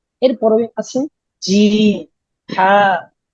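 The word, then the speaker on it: جيم: এটা বলার সময় আমাদের জিহ্বা মধ্যখানটা তালুর দিকে চলে যাবে। আমাকে একটু লক্ষ্য রাখুন, দেখেন আমি কিভাবে উচ্চারণ করছি। জিম, জিম, জিম।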